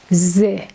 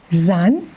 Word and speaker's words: ز: Z sound is only child like the and re. Now look at the way we write Z. Z is pronounced exactly like Z in English.